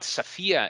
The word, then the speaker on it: Safia: For instance, they decided to name their fourth daughter Aisha, Safia, Rayhana, and Lina, but Safia is she specified is written S-A-F-I-A. So as it is pronounced.